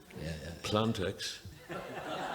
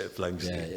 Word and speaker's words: Planxty: He also reminded me there that when we started off first, nobody could pronounce the word Planxty. People used to call us Planxty, Plantex, Planetaxi. It took a few years before people could say Planxty.